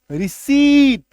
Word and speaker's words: receipt: RECEIPT, पी को काट दो अब पढ़ो। रिसीट, नहीं तो क्या बोलेंगे, रिसिप्ट दे दीजिए, इसका सही उच्चारण क्या है, रिसीट।